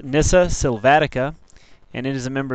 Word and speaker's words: Nyssa sylvatica: The scientific name is pronounced nissa silvatica and it is a member of the cornacier family.